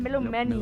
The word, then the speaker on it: Melomani: Melomani.